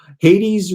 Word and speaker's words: Hades: very good material though hades rhymes with 80s um speech fairies thank